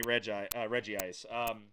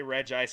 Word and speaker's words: Regice: I really do want shiny Regice. You're going to hear me say Regice and Regice. It's been pronounced both ways in the show, so both pronunciations are acceptable.